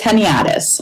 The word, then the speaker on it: Heniadis: Did I get the pronunciation right there, Kim? Close. It's Heniadis. Heniadis, okay.